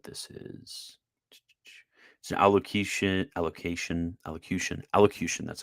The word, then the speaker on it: allocution: let's see what this is allocation allocation elocution allocution that's how you pronounce it allocution given on the 16th of September 1960 this